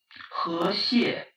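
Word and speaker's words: 和谐: Here's how that word is said in Mandarin Chinese. 和谐, 和谐. Here's how it's said in Cantonese Chinese. 好孩, 好孩. Both of them sound very much like the word river crab.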